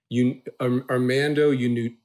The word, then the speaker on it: Armando Iannucci: Armando Iannucci.